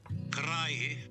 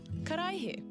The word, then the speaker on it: karaihe: And then you can click on a little sound button next to it, and it will do the pronunciation. So glass is... Karaihe. Karaihe.